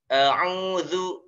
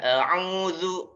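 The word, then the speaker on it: أعوذ: Nah setelah angin ada Za yang sering keliru yang sering salah ya itu biasanya Zaini diucapkan dengan huruf dza a'udzu yang betul gimana nanti maksudnya ada dimaksud lisan zat Zu a'udzu ya a'udzu a'udzu oke Billahi minas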